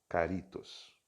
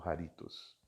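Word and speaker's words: χάριτος: Caritos. Vamos fazer também outro círculo aqui. Caritos. Aqui pode pronunciar tanto harim, né, ou carim, ou então caritos ou haritos.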